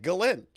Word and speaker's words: Ghislaine: That's how you pronounce it, Galin.